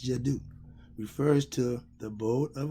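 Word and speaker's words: Djeddu: Jedi, okay, it's spelled D-J-E-D-D-U. It's Jadu.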